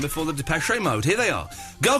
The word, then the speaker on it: Depeche: Now, Eloise, before we play the Depeche Mode, there is an accent over the second E, so you do say the third E, so you do pronounce it Depeche, I believe.